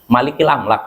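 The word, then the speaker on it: مالك الأملاك: aml ya malikil amlak harusnya salah baca malikil aml bukan malakil kalau malak artinya e malaikat B tapi kalau Malik Raja ya jadi keliru tadi ya bacanya bukan malakil amlak tapi malikil am Malik Malik Raja tapi kalau malak malaikat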